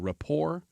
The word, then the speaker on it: rapport: That is not a great recipe for creating rapport with someone. And I need to highlight that word is spelled R-A-P-P-O-R-T.